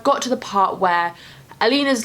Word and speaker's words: Alina: I think that's Alina, that's how you pronounce it.